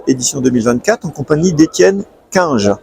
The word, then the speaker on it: Cunge: Donc nous sommes au Galactic Days d'Auxerre édition 2024 en compagnie d'Étienne Quinge. Je prononce bien C'est ça.